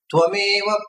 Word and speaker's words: ತ್ವಾಮೇವ: ಇಂದ್ರೋ ಬೃಹಸ್ಪತಿ ವಿಷ್ಣು ಶನ್ನೋ ತ್ವಮೇವ ಪ್ರತ್ಯಕ್ಷಂ ಬ್ರಹ್ಮಾಸಿ. ಆಮೇಲೆ ಎಲ್ರು ಹೆಂಗ್ ಹೇಳ್ತಾರೆ, ಹೆಚ್ಚಿನ ಜನ ನಾನು ಕೇಳಿದ್ದೇನೆ, ತ್ವಮೇವ ಪ್ರತ್ಯಕ್ಷಂ ಬ್ರಹ್ಮ ವದಿಷ್ಯಾಮಿ. ವಸ್ತುತಃ ವೇದದಲ್ಲಿ ಹಾಗಿಲ್ಲ. ತ್ವಾಮೇವ ಪ್ರತ್ಯಕ್ಷಂ ಬ್ರಹ್ಮ ವದಿಷ್ಯಾಮಿ ಅಂತಿದೆ. ಎಲ್ರೂ ತ್ವಮೇವ ಹೇಳುದು, ತ್ವಮೇವ ಹೇಳೋಲ್ಲ.